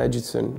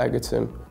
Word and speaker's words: Egerton: My name's pronounced Taron Egerton, it's not Egg-erton.